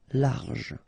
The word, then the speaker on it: large: Don't insist on the final E. Large.